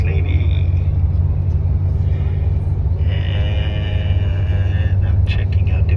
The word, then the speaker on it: Lévis: And on the other side, on the south shore, the city is called Lévis. It's written and spelled like James Levi's, but we pronounce Lévis.